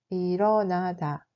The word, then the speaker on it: 일어나다: 일어나다 se prononce comme 일어나다. 일어나다.